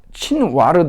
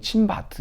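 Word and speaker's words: Chinvat: 다리라고 하는데 이걸 갖다가 친와르 다리라고 그래요. 친와르 또는 친바트 이러는데 뭐 이 발음이 V자가 책마다 좀 달라요.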